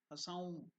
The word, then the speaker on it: Hasaum: That N is nasal. Hasaum. So Hasaum. Okay. Uttering Hasaum. Can you pronounce it, please? Ha plus Sa plus Aum. Au, then nasal.